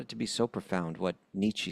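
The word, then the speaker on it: Nietzsche: I I found it to So profound what Nichi said and how do you pronounce it again? Niche niche that that he said I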